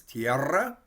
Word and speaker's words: tierra: might look like so you can hear we kind of roll it we're going to trill it we'll pronounce the r a couple times tierra which is the earth